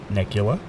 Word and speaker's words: Nicula: them I got Jesse nicula he told me it's pronounced like Dracula so that's how I